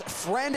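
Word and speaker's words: Freund: Joe Friend, spelled F R E U N D, but pronounced friend uh has been very unfriendly.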